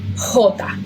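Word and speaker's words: jota: stronger yeah okay now the letter J in Spanish the following the one we have right here it's hota okay it's pronounced like an H in English right H in Spanish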